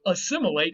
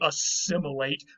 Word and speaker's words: assimilate: We don't pronounce two S's there. We don't say assimilate or something like that.